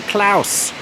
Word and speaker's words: Klaus: at the Lowry including Klaus Klaus the musical it's definitely pronounced claws okay we're walking around